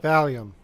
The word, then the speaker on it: Valium: the whole running joke about now I can't pronounce the freaking word of volume. Volume. Valium? No. Valium.